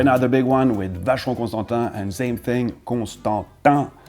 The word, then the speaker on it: Vacheron Constantin: Okay, now the big one with Vacheron Constantin, and same thing, Constantin, Vacheron Constantin, and yes, there was a Mr.